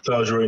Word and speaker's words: Taj-Ray: I don't know if I have your name pronounced right. Taj-Ray. You guys pronounced it right.